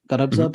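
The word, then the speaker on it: Gharbzadegi: I hope the audience will forgive me, which basically translates to struck by the east, an atman of Garabzadeh. Garabzadeh is how you pronounce it?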